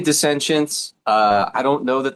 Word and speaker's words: Dissentience: We say Densience. Uh I don't know that there's a right or a wrong way, but we say Densience.